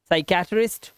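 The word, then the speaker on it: psychiatrist: कि नहीं होता देखो ध्यान से कह रहा है एस से पहले आएगा तो प साइलेंट होगा अब इंग्लिश के कई ऐसे वर्ड्स है जिसमें एस से पहले पी आता है और हमारा पी साइलेंट होता है जैसे साइकोल ठीक है साइकोलॉजी साइकेट्रिस्ट और साइकोथेरेपी इसमें सब में देख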